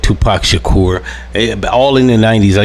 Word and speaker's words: Tupac Shakur: All in the 90s, I used to remember news segments where they used to call him Tupac Shaker, Tupac Shakur. It's just so 30 years it only took for people to correctly say his name.